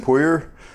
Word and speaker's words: Pouyer: it's she says pouye she likes the the french pronunciation a little bit better the problem is though